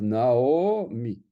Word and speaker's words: Naomi: Naomi, là, ça va être un sheva suivi d'un kamatz, et on va le prononcer na, o, on va prononcer o. Donc, on a le kamatz na, et puis le aïn va être prononcé o, donc on va dire Naomi.